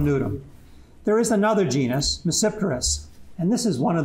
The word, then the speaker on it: Tmesipteris: language and it's reciprocity the t is not pronounced in english it starts with a t reciprous and i'll show